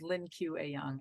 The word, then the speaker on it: Lien Que Ayoung: but tomorrow um I will have Lynn Q pronounce her full name because Cindy cannot so hi my name is Lynn q a young and I am the director of what tomorrow